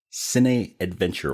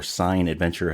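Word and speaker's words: cinadventure: letter box account too that is C Adventure or sign Adventure however you want to pronounce it but it's c i n adventure and if you want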